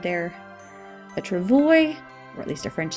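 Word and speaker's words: travois: called a Travoy a Travoy you don't pronounce the S it's a French word there a Travoy or at least a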